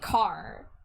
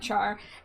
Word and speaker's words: Char: they were pronouncing it car. They were pronouncing it car and I you know the first thing I said was, "Oh, it's Charlie Charmander." They're like, "Oh, Charlie Charmander. Okay, you got it, Char."